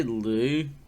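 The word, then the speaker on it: Lugh: Luke or Lou uh I would say Lou not Lube though l-u-g-h for those at home that were trying to tell us how it's pronounced um well yeah so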